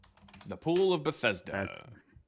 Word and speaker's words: Bethesda: It talks about people going to the that's Beth The Pool of Bethesda.